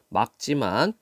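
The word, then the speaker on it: 맑지만: 오늘 전국이 대체로 막지만 자 리얼 기억 받침이 뒤에 기억이 아니죠 기억이 아닐 때는 뒤에 꼴로 발음합니다 막지만 미세먼지 농도가 나쁨 단계로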